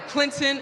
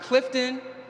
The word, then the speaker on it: Clinton: namesake upon hearing it I am a Clinton CL I nto n-not Clifton not Clayton or my personal favorite clip Clifford remember the name and